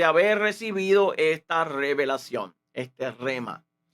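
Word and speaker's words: rhema: La palabra en el vocablo hace referencia al rema, que se escribe con la palabra R-H-E-M-A, rema, que implica un sentido de una palabra fresca, calientita, acabadita de recibir el aliento de vida del Espíritu.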